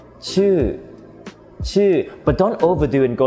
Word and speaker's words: ชื่อ: So the first word is ชื่อ. A lot of new students, when they pronounce this word, they tend to round their lips and they pronounce it like ชู่. Well, that is not an อู vowel, okay?